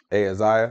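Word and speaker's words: Ahaziah: higher I mean ahaiser how do you pronounce that uhiza hey Isaiah hey Isaiah thank you Isaiah the son of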